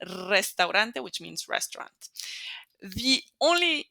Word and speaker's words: Restaurante: the last one restante when it's at the beginning of the word notice even if there's only one R we're going to make it roll so it's going to be a strong one Restaurante which means restaurant the